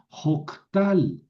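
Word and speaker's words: הָקְטַל: ¿Por qué suena o? Es una camatuf porque es una sílaba cerrada sin acento. Ho tal. Lo mismo acá. Hof al silva cerrada sin acento. Por eso la camet es cametuf. y suena o jofal con el verbo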